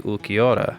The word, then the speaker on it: Ulquiorra: to the bleach first and that would be ukiora see how I pronounced that correctly some people don't know how